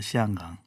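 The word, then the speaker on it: 香港: 네, 홍콩이 그 현지 발음으로는 홍콩이 아닌 건 아시죠? 시안강입니다. 시안강.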